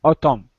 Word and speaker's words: autumn: The N here is silent. Yes, it is. Okay. Autumn.